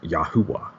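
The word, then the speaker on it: יהוה: And this would be basically pronounced Yahuwah. If you notice, there's no vowels here. So it would more or less be Yahuwah.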